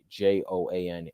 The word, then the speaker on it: Joan: There's no Juan. It's Joan. Yon Adon, however you say it.